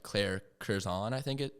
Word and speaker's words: Curzan: And you even have teammates now at Stanford who have swam in the Olympics, like Claire Curzon, I think it. How do you pronounce her name? Sorry. Yes, Claire Curzan.